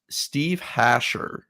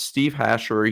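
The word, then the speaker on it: Steve Hajjar: with a 12.1 walk percentage so it's actually steve hasher is how you pronounce it and i know that everyone's going to mess that up but it's steve hashor he actually pitched at michigan um a couple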